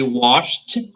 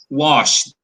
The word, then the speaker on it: washed: Yes, I cleaned the house and I washed the car. Okay? You see wash, Rodrigues, oh, shh, the sound, shh, wash. So it has a T sound. Washed. Washed. T sound. Washed. T sound at the end.